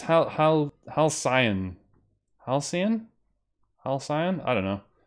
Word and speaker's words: Halcyon: Yeah, it's Halcyon.